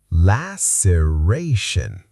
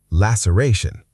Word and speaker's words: laceration: The C makes an S sound here, not a K. Laceration. Laceration.